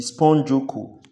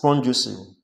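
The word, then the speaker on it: spongocoel: Note that the canal or the space within the body of the sponge is called the spongiocco, rightly pronounced as spongiocele.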